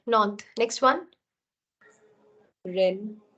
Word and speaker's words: Rennes: How do you pronounce this word, please? Nantes. Nantes. That's right. Nantes. Next one. Rennes. Rennes.